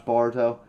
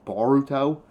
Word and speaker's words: Boruto: And then Boruto, a lot of people hate the way I pronounce Barto. That's just how I pronounce I know it's probably actually supposed to be announced Baruto. Like I have to put more pronunciation on the or part of it, but that's besides the point.